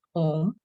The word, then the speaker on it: Om: The significance of Om has been given in the Mandukya Upanishad, in which it is explained how the 3 syllables of the word Om, A, U, and Ma, stand in the root